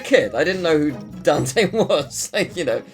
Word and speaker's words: Dante: the same way that I used to pronounce Baron dantey not Dante um and the reason for that is because they're called danis so I was like oh that he must be dantey um and I mean